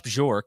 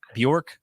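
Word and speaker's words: Bjork: uh Administration here because rash bjor is am I saying that right Ross bjor is that is that how you say it I think it's Bor bork okay no so the J yeah Bor so he he's he's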